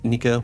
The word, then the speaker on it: Nika: And then we have Grin, which is looking to be translated or roughly pronounced as Nika, which I believe is going to tie to Sun God Nika.